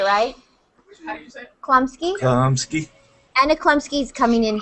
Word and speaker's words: Chlumsky: Chlumsky.